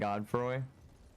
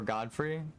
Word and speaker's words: Godfrey: kind of like godri and godfroy or Godfrey I think it's supposed to be pronounced we might get our